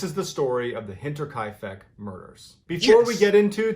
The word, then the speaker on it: Hinterkaifeck: finally attacks this is the story of the hinterkaifeck murders before we get into today i i got it i knew it i pronounced it right you have to like the